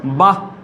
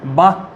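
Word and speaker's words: বাঃ: যদি একটি বর্ণের পরে বিসর্গ থাকে তখন হ উচ্চারিত হবে। কীরকম দেখো, যেমন বয়াকার বিসর্গ, বয়াকার বিসর্গ, এর উচ্চারণ কি হবে? বাহ। এর উচ্চারণ হচ্ছে বাহ।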